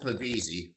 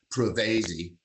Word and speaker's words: Pavese: a guy named Carl Pavese, who every operator up there mispronounced his name and called him Pavese. His name was Pavese.